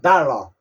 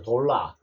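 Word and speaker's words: dollar: 외우냐 걸 외우라는 겁니다 달러 우리 한국말 달러 달러달러 이거 아 우리 식으로 읽으면 돌라가 되죠 돌러 달러 돌러 돌라가 아니고 달러입니다 자 그다음에 더블 더블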